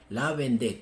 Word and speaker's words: Vendée: horrenda masacre anticatólico de la vende o como se dice en español La vendea pero a mí me gusta más como se pronuncia en francés la vendé con dos G la